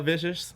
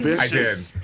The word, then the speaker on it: Visage: We interviewed her and he said her name wrong to her face. Vicious. I did. Did I say vicious? On purpose? Yes, you did. You said Michelle Vicious.